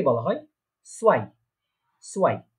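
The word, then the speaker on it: zwei: তো তাহলে এটা কি উচ্চারণ হচ্ছে, প্রোনাউন্সিয়েশনটা কি হচ্ছে, আইনস। ঠিক আছে, তারপরে 2 বা 2 কে বলা হয় সোয়াই, সোয়াই, 2 কে বলা হচ্ছে সোয়াই।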